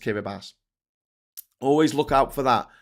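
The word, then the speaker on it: Kiribati: I absolutely love the fact that their ti in their words is pronounced as an S. So it looks like kiraabati but it's pronounced kirabas.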